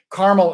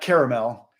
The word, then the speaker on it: Carmel: And Carmel, Indiana, not Caramel. But Carmel is how they say it in California. In Indiana, they say Carmel.